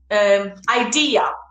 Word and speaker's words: idea: The idea, the intonation is in the second syllable.